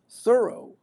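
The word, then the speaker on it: Thoreau: Eric said she said Henry David Thorough and we said the correct pronunciation is thorough.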